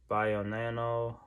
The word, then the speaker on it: Bionano: Bionano.